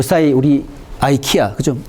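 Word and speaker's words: IKEA: 자, 그러면은 이런 경우에 글로벌 전략을 보게 되면은 요 사이 우리 아이키아, 그죠? 이 발음은 뭐 이키아라도 발음하고 아이키아 뭐 다 자기 나라에 맞게 발음을 하는데 요새 아이키아 한국에 굉장히 논란이 되고 있잖아요.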